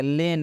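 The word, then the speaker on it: lane: लेन, लेन मतलब होता है गली। ई अंत में है इसलिए ई का उच्चारण नहीं होगा।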